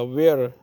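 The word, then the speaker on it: where: वेयर, इसको H यहाँ पे साइलेंट करना पड़ेगा।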